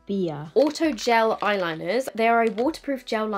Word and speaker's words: BBIA: multiple shades of the bibia I think it's high pronounce it or bbia I have been corrected that this is pronounced beer Auto gel eyeliners they